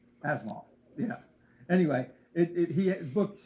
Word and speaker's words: Asimov: Asimov.